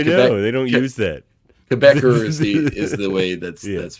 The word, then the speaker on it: Quebecer: Quebecer is the way that's pronounced.